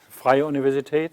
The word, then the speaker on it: Freie Universität: Well, Freie Universität, is that what you mean?